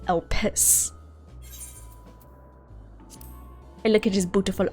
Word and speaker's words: Elpis: But the way that it's spelled makes me think it's Elpis. You can really tell how putting emphasis on different parts of a word can really change what it sounds like. Elpis versus Elpis.